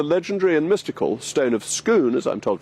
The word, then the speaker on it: Scone: bear in mind that scone is pronounced schoon vis-a-vis the stone of schoon right I quite like